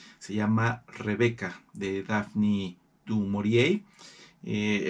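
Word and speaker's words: du Maurier: Eh, el apellido es francés, pero se pronuncia en inglés porque ella era británica. Ella nació y murió en un ámbito británico, así que no se suele pronunciar en francés, aunque remotamente sí es de origen francés.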